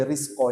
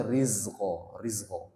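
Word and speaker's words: رزقا: Nah, jadi jangan sampai ini dibaca sin ya. Wa atuz biasanya di risko itu bacanya sin itu kalau kebanyakan ya. Risko harusnya rizqo.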